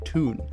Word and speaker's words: toon: city itself toon toonami this nickname comes from the geordie pronunciation of the word town being toon there's also another nickname